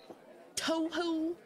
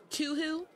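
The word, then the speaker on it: Touhou: I think I did too I forget how I pronounced it but it was so bad that people made fun of me for a while after that to who it's better than too oh my God too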